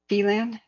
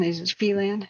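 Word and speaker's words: Phelan: they did say that fan oh fon felan okay felan thank you for that pronunciation correction hey AMD how you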